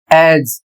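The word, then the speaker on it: as: अगला शब्द है ए एस एज और इसका अर्थ होता है जैसा कि।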